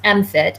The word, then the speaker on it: MMFT: So, we had one, um, MMFT, which we pronounce MIT.